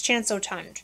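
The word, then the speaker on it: Chance Eau Tendre: chance oh tond and some people were saying chance of tundra and i was like oh my gosh how do you say that so i looked it up according to google translate it's chanso tunde this is the eau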